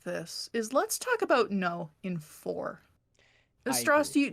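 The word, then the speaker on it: Nō: it I'll tell you it's a long o so it is how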